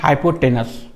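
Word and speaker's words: hypotenuse: का स्पेलिंग कैसे रखिएगा, HY हाई, PO पो, और टेन का स्पेलिंग TEN टेन, और उसके बाद यूज कीजिए USE यूज, हाइपोटेनस।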